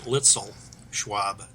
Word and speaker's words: Luetzelschwab: Yeah, for what it's worth, we've kind of Americanized it, I guess. We pronounce it Luetzelschwab, but they even pronounce it different over in Switzerland.